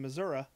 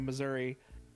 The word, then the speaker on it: Missouri: I was really confused because I felt earthquakes in Missouri, but I was always told that Florida never had any.